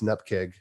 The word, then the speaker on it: NuGet: dot 4.1.2 31 0 dot nutcake and yes it's an up kick that's how we pronounce it but anyway we